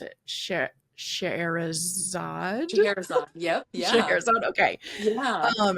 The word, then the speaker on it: Scheherazade: you're gonna have to tell me how to pronounce it, Scheherazade. Scheherazade.